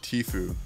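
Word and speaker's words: Tfue: bestest actually no no that's not even how you say his name's names T food not teeth you I played with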